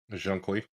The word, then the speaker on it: Zhong Kui: Jean Qui. Okay, Jean Qui.